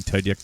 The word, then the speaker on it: Tudyk: Alan Tudyk does that.